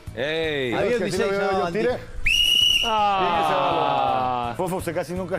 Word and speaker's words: Van Dijk: Y el nombre Van Dijk, Dijk. Es como se pronuncia, ¿verdad?